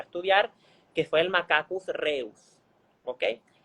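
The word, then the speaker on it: Rhesus: RH viene del nombre del origen, que fue donde se empezó a estudiar, que fue el Macacus reus, ¿ok? Reus se escribe R-H-E-U-S, ¿ok?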